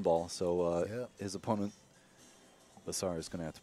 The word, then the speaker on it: Besar: Jayson came up dry, but the 2 ball blocks the 1 ball, so his opponent, Besar, is going to have to play it safe. Al, am I pronouncing that correctly, Besar?